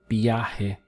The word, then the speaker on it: viaje: A trip in Spanish is un viaje. Let's break the syllables down. So you have B, A, G. Notice the strong B sound over the V and this H over the J.